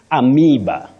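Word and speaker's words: amoeba: the long sound e so you say amiba am not AA not AA and you can remember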